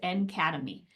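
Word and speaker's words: NCADEMI: accessible digital educational materials and instruction pronounced an academy and we are a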